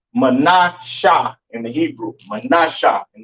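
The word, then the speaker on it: מנשה: Pronounce Menasha in the Hebrew, Menasha in the Hebrew, all right?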